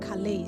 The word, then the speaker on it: Calais: I don't know how to pronounce it right, but the Lord spoke about Calais, C-A-L-A-I-S.